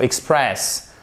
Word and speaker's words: express: particulières au niveau prononciation express par Express Xpress vous avez l'accent tonique sur la deuxième la seconde syllabe et ici faites bien